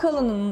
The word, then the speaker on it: Cullinan: Evet Artur, şu an Cullinan'ın önündeyiz. Neden Cullinan? Doğru mu söylüyorum bu arada Doğru telaffuzu?